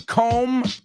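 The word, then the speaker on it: comb: absolutely the next one com Stone same vowel sound o oh com Stone and the last one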